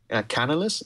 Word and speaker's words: Canalys: And I think according to the research firm called Canalys, is that how you pronounce it? Yes.